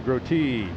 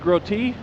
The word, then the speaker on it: Grotee: Is it pronounced Grotee? That's what they told me it was. Ah, well, see, because when I've done the Dawn Patrol show, I've announced him as Grote, and so my apologies if that's the case.